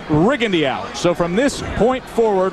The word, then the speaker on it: Rigondeaux: well if you're wondering his name has been pronounced Rigo through most of his amateur career but in prepping for this fight the camp was very clear in saying that the preference is rig Andy out so from this point